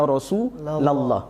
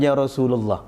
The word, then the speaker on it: Ya Rasulallah: blablablabla mengejar Rasulullah enggak Kalau Anda menyampaikannya itu adalah Hadits maka membacanya Ya Rasulallah bukannya Rasulullah gitu ya kemudian yang berikutnya